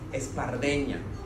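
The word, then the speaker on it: espardenya: in catalan there is a word that is pronounced espardena is it's a difficult word right because the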